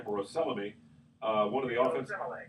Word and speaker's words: Osemele: You mentioned in just passing Kelechi Olesemi, I believe that's how you pronounce his name, or Oselemi, one of the offense. Osemele, got an unusual name, an offensive line.